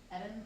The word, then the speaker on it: Eden: Eden, like Garden of Eden, but Eden. Oh, but Eden. Okay. Yes. Different pronunciation of the E.